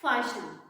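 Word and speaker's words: fasten: Next फासन, फासन means बांधना किसी चीज को, और इसमें भी देखिए एस के बाद टी आया है ना, तो टी का प्रोनाउंसिएशन कैंसिल आउट हो गया, तो क्या हो गया? फाशन। So this is the rule of strong sound and week sound.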